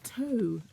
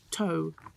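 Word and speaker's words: Tōu: Lux Gen girl myself, but Toe. No, you say Toe, which is at the Globe, which is the Borough Market. So it's spelled TOU with an accent, just in case people are Googling.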